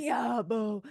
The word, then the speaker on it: Diabo: Diabo. His fucking oh, it's spelled D-I-A-B-O. apostrophe abo, but it sounds like Diablo.